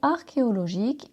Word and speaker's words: archéologique: valeur historique et scientifique le mot archéologique s'écrit avec un che mais se prononce k de son origine du grec ancien la gaulle pendant plusieurs